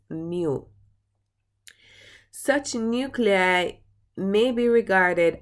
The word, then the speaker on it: mu: is the symbol for it, and it is pronounced mu.